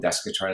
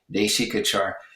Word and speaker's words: Deśikācar: And of course, Desikachar had a Western, I call him Desikachar, it's an American mispronunciation, please forgive me, Deśikācar.